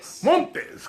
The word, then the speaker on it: Montes: Am I pronouncing that right? It's Montes.